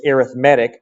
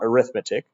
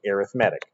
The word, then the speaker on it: arithmetic: Okay, and by the way, it's arithmetic, not arithmetic. Arithmetic is the noun. When you go 3 plus 4, you're doing arithmetic. This is a adjective describing a sequence. As an adjective, we pronounce it arithmetic.